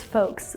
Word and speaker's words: folks: I just now realized that this word is folks but if you're talking about folk it's what you pronounce the L you know like folk tales